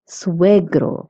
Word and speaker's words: suegro: Also notice that SUE in suegro and suegra is pronounced sue.